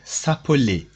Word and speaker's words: s'appeler: So this verb is called, it is pronounced s'appeler.